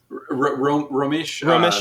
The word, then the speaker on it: Romesh: Romesh.